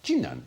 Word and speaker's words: Jinan: The city of Jinan, spelt Qinan, but pronounced Jinan in China, is about the same